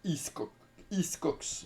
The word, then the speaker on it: Hickox: hein c'est voilà Anthony iscock à ne pas le confondre avec alfredcock alors un réalisateur avec lequel j'ai toujours eu un petit souci du coup pour la prononciation voilà c'est iscx voilà bon c'est c'est